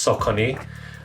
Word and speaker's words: Saucony: Let's go, and today we've got a look at the SAUCONY, oh my god, I can't believe I said it wrong. It is actually pronounced SAUCONY Shadow 6000.